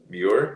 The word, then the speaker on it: Muir: Tell me how to pronounce that. Muir?